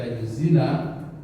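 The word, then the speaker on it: يزيل: Kenapa dibaca yuzila? Karena di situ ada an. An itu termasuk harfu nasbin. ya, yang membuat dia nasab sehingga dibacanya yuzila. Kalau tidak ada an dibaca yuzilu.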